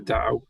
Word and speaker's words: Tao: So T became D over time, but the word itself is still pronounced Tao.